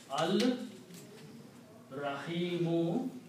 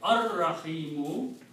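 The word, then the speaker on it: الرحيم: And when you put al before that, this will become al Rahimu. And when you pronounce it, will be ar Rahimu, which is this word here.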